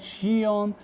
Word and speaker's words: Zion: play for Xeon okay it's pronounced that xion but the name is written as Xeon so there's so much way of pronouncing it again and Chinese